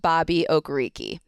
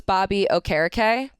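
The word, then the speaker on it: Bobby Okereke: it is not pronounced Bobby ogariki he is going with a more traditional Nigerian pronunciation so it's Bobby o'cara Kay okay okay that's news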